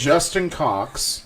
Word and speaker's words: Justin Cox: Justin Cox. That is how it's said. That's how you say it. Not how you said it.